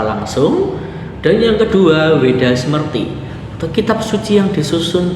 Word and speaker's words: Smrti: Kemudian yang kedua, Weda Smrti. Ya, saya anggap bacanya Smrti saja karena tulisannya SMRTI. Kalau dilihat SMRTI atau Smrti itu memiliki arti ingatan.